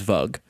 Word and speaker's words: Vug: kobold leader, which is Vug. Can you spell that? V-U-G, like mug, but with a V.